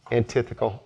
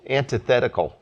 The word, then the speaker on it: antithetical: It's antithetical because Shannon had said I think you're mispronouncing that. And I went and I Googled it and it's antithet uh yeah antithetical. At least that's how Google pronounced it.